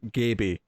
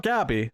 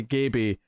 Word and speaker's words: Gaby: short she'll be called Gaby not Gabby they specifically say Gaby that rhymes with maybe oh that's such a